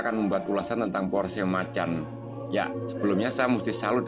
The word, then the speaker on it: Macan: bahwa nama kacung diganti sebagai Macan dalam pelafalan Inggris Bahkan mereka menekankan frase macam agar tak salah sebut bersumber dari pihak Korsel